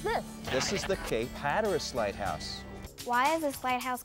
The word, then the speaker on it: Hatteras: And it sounded like Hatterask. And so they said, let's spell it so that the way it sounds. And as time passes and they redo the maps, the spelling changed and it started to sound like Hatteras.